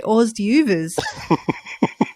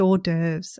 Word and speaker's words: hors d'oeuvres: I used to say always do vers for a very long possibly awkwardly long time until I realized I put two and two together it's a French word it's pronounced hors d'oeuvres okay it's the same